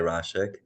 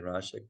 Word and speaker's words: Raszek: name is Dr rashek so pretend that Jay is a i that's how you pronounce my name I get all the time but thank you I would introduce myself as rashik Dr rashik and